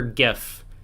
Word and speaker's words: GIF: pronounce it like the peanut butter.